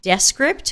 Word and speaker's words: Descript: i'm also trying out desk script which evidently is pronounced that way and they are using